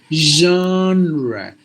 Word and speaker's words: genre: it should be Jean this symbol Jean not the name John like John it's not that sound it is this sound which is I think I explained to you how it has to be pronounced the shm you have to say like the honeybee sound like that's him so you have to say genre there are two ways